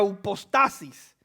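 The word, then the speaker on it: ὑπόστασις: usted puede anotar es una palabra que se pronuncia un post asís y quiere decir es pues la fe la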